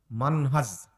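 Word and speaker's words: منهج: আর একটা বলেন মানহাজ। মানহাজ শেষে হলো কি? বর্গীয় জ, বর্গীয় জ। মান আজ, মাযহাব না কিন্তু।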